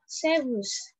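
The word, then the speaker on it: Servus: Nah, selanjutnya, di sini juga ada Sebus. Sebus. Kurang lebih bacanya kayak gitu ya. Sebus. Kayak R-nya lagi baca.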